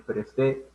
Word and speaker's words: presté: En cambio, esto lleva tilde. Te presté dinero. Porque cambia el tiempo de la palabra, ¿no?